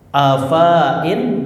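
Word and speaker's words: أفائن: Afain dibaca afain. Silakan ikutin. Afain dibaca afain. Hati-hati fa-nya dibaca pendek. Hati-hati fa-nya dibaca pendek.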